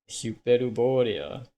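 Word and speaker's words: ヒュペルボリア: Like hyper is pronounced Huper. Huper. Cupid. Huper. I guess it makes sense. I guess the Y in like Greek or Latin might might be pronounced as a U sound kind of makes sense maybe Matsu.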